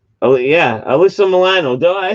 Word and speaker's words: Alyssa Milano: Melissa Milano. Oh yeah, Alyssa Milano.